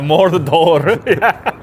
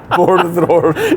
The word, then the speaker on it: Mordor: Well, yeah, that's probably the pronunciation. Well, you got to roll all the Rs. Yeah, Mordor. Mordor.